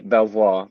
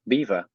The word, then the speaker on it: Belvoir: say it I'm sure the French would say Belvoir but we're not in France we're in the middle of England and the way the locals say it like myself is beaver well you know Americans we have our weird